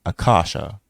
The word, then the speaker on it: Akasha: This is also known by the Sanskrit term Akasha, correct pronounce Akash, or the astral light.